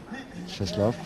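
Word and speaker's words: Czesław: Cheslaw, spelled C-Z-E-S-L-A-W, which we would say Czeslaw, but he says Cheslaw. Apparently is the Polish pronunciation.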